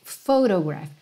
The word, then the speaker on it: photograph: in a Photograph Photograph PH em inglês tem o som de f igual em português não tem Rafael escrito com ph farmácia antigamente era escrito com ph então Photograph você vai pensar nesse PH como f mesmo tá bem E a Photograph